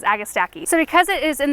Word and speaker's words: agastache: also it's a hyssop is agastacky or agastache i've heard it pronounced like three or four different ways i've always heard or i've always said it as agastaki so because it is